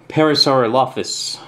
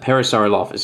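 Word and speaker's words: Parasaurolophus: another T-Rex one and a parasar alaus I think that's how you pronounce that parasar lus yeah that's right um so basically red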